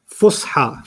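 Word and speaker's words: فصحى: Fusha.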